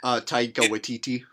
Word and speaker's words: Taika Waititi: of thing that like what's how do you pronounce the director's name again Taika Waititi if see like watch et had this idea